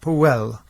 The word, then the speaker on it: Powell: It's a Welsh name, which is Ap Howell, son of Hywel. Right. And the correct pronunciation is something like Powell. So he was nearer to the right pronunciation. The trouble is, if you say that on the telephone, you're going to get it spelt P-O-L-E.